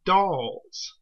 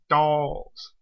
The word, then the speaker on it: Dal: It's not mentioned here, but the Thals have actually confused the Daleks' ancestors, the Kaleds, with the Dahls. D-A-L, not T-H, like the Thals. Dahls.